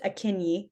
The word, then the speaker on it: Akinyi: So I Yeah, the project's name is it's Akini. It's spelled Aki N Yi.